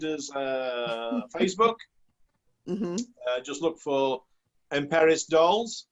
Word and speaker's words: Emperis: The name Emperis is a blending of empire and Paris. That's spelled P-E-R-I-S, Paris.